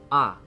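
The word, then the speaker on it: あ: this is uh or ah it's the equivalent of the vowel a in English you pronounce this as ah ah ah it's a short vowel let's practice writing it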